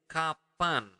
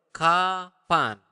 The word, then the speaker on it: kapan: will learn how to say when when is kapan okay slower kapan kapan okay kapan where is the Mana d